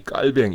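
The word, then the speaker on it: Calvin: 있다 를 강조 하겠읍니다 칼빈 4 2 저자는 깔 뱅 이렇게 썼습니다 왜냐하면 칼빈이 프랑스인 이고 프랑스 어로 발음이 깔 뱅 이기 때문에 그래요 그러나 일반적으로 제 칼빈 켈 갠 이렇게 불리죠 회의의 혈액의 순환 기능을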